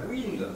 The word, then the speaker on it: Wind: Tu prononces Wind ou Wind? Wind. Wind, c'est toi qui as raison.